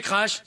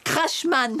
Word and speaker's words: Crashman: Tu vas te calmer Crash. Désolé de te corriger Raoul mais en fait mon nom se prononce Crashman.